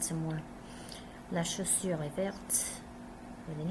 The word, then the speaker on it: verte: La chaussure est verte with an E. Before we didn't pronounce the T. Le blouson est vert. La chaussure est verte. We're pronouncing the T because there's an E at the end.